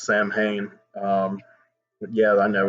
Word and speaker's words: Samhain: They're in the Halloween, they're having Halloween, and they end up battling kind of a demon who's named Samhain, which most people would pronounce Samhain.